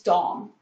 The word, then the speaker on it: Domme: It's Dom. And as you see, we've got the spelling flashing below us. But anyways, Dom, D-O-M-M-E equals Dom. It's not Domme or Dommy or any of those